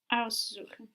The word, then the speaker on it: aussuchen: Aussuchen. Aussuchen. Does this take the accent? Yes.